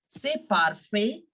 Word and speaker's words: parfait: perfect means it's perfect if you can see in the word perfect also I am not pronouncing the T in the end so no one will